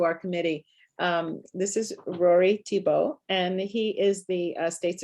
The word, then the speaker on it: Thibault: The true French pronunciation of Thibault, which only is ever spoken properly in Vermont.